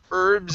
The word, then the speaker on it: herbs: be pronounced in english we do have a handful of words where the h is not pronounced herbs is one of them okay so instead